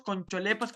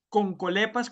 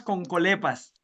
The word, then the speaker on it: Concholepas: De hecho, eso es interesante porque investigadores del IFOP, universidad, todos Concholepas, Concholepas. La pronunciación adecuada es Concolepas, Concolepas. Esa es la pronunciación en latín del nombre científico.